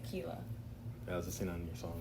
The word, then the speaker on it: Keella: Keella. So like you would say tequila, but without the te, you just say Keella.